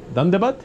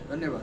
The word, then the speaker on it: Dhanyavad: How do you say thank you in Nepali? Thank you. Dandabat? Dhanyavad, yes. Dandabat.